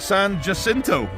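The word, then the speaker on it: San Jacinto: San, how do I pronounce that? Sanjasinto.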